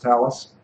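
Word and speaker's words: Thales: is a tals th I think it's pronounced Talis uh I guess it looks like fails to me but th fails is a little light in the loafer so I guess I'll go with Talis but it doesn't matter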